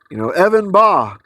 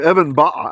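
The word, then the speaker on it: אבן באה: Or Evan Ba'a, actually, because Evan's feminine. So it should be Evan Ba'a, a stone is coming, right? So Evan, 2 syllables, Ba'a, Beit, Aleph, hey, because Evan, even though it doesn't look like it, sorry guys, it's feminine. So not Evan Ba, but Evan Ba'a, 4 syllables.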